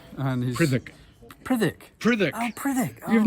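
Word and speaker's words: Prytherch: And we published a lovely book about Robin Prythirch and his... Prithick. Prithick. Oh, Prithick. Oh. You've never known how to pronounce it all this time?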